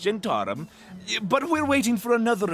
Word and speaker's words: Zhentarim: So, what's the deal about this job that the Zentarim's got lined up for me? In a minute, I'll tell you. Also, it's pronounced Gentarum.